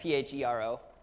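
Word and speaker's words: φέρω: Yeah, pharaoh, not like not like Pharaoh, but of Egypt, but Phero with an accent on the O.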